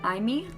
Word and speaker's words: Aimi: Then we have Aimi, I think is how you pronounce it, A-I-M-I.